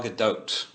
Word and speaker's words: Gadot: Wonder Woman, I believe I've heard her pronounce it Gal Gadot with the actual T at the end. Yes. So, but the French I took in high school always wants to throw that T off of there.